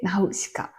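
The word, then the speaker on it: 今鹿: あと今に鹿って書いてう鹿。はい。ナウと日本語の鹿でナウ鹿らしいです。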